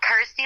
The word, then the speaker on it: Kirsty: obviously it helps that it's you know rhymes with my name and helps people pronounce my name correctly so I'm like cool Kirsty like thirsty got ity like thirsty